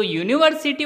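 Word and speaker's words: university: pronounce देखनी है हमें तो यूनिवर्सिटी वर्ड के प्रोनाउंस की शुरुआत होती है यू से अब यू तो कोई स्वर नहीं है यू एक व्यंजन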